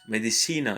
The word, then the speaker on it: medicina: Medicina Medicina. is medicina. You see the stress on the syllable before the last one. So that's medicina.